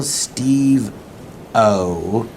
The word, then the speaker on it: Steve-O: today my very special guest is the wonderful Steve O or is is it pronounced steveo doesn't matter I've never been particular